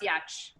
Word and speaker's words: Giertz: were trolls because it's spelled g-i-e-r-t-z but it's pronounced yatch which makes um but